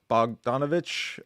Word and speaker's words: Bogdanovich: but I do like targets yes Peter uh bogdanovich um yeah that's how you say it yeah